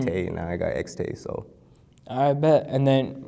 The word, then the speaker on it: Xtaye: And then, um, where did the name X, am I saying it right? XT. XT. Yeah.